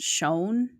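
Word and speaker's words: Shoun: the Shonne brothers, which in the book I thought it was like the Shun brothers, but in the movie they pronounced it shown.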